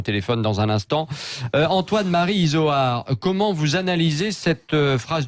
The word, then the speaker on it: Izoard: J'ai dit Isoard. À peu près, avec un O, pas un U.